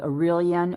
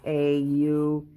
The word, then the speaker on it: Aureolin: Here I have a color it's called Aurelian or Aureolin, however you pronounce it. It's Aureolin.